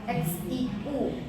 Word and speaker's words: Xiu: I dan u k tadi kamu tanya x i u si nah bacanya si si si xiu itu nama keluarga dia kan ada X iu gitu ya Nah kalau iu bacanya harus i o u si Nah jadi Kenapa orang